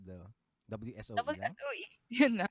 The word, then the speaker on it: WSOE: How do they pronounce the WSOE lang? WSOE. Yun na. Not Wuzo.